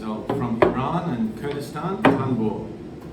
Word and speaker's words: tanbur: This instrument is very ancient, hundreds of years old, from Iran and Kurdistan, tanbur.